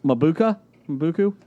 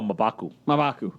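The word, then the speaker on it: M'Baku: My number one, I'm going to butcher the name, Mabuku from Black Panther. Oh, Mabaku.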